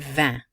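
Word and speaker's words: vingt: And vin, which sounds just like the word for wine. Vin, where the T and G are not pronounced.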